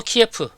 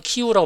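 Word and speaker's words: 키이우: 갈까요 현실적으로 보게 되면 수도 키에프 요즘은 키우라고 발음하는 데 이수 도키오 를 노력했다는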